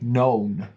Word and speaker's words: known: I'm helping you out it starts with a silent k known um past perfect I